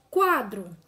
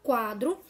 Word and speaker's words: quadro: Se depois do QU vier a vogal A, o U, que está dentro desta palavra, ele será pronunciado. Observe, quadro. Quando eu falo a palavra quadro, prestem atenção que eu consigo identificar o U que está dentro dela, tá bom?